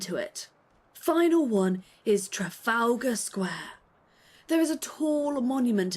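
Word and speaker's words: Trafalgar Square: Final one is Trafalga Square.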